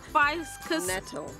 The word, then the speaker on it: ficus: This is a Ficus natalensis, so it's indigenous to Natal. Ficus natalensis. Hold on. Oh, natalensis. Ficus natalensis. Still wrong, Zola. It's actually ficus.